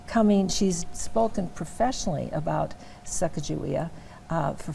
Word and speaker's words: Sacagawea: Now in Great Falls we pronounce it Sacagawea. In other parts of the country they say Sacagawea or Sakakawea. Years ago I did an interview about Sacagawea. I'll always say it that way with a hard G.